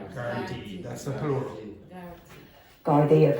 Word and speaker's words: Gardaí: How do you pronounce that word? Gardaí. Gardaí, that's the plural.